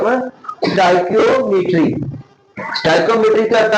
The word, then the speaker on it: stoichiometry: Chapter number four का नाम है स्टाइकियोकेमिस्ट्री। स्टाइकियोमेट्री। क्या नाम है? स्टाइकियोमेट्री। स्टाइकियोमेट्री। ये जरा प्रोनाउंसिएशन सही तरह आप लोगों ने अदा करनी है।